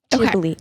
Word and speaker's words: Ghibli: Oh, it's Ghibli, not Ghibli? Or maybe is it, do I say it wrong? Is it Ghibli? Aiden, what is it? What is it? Ghibli. Okay. Thank you, Aiden.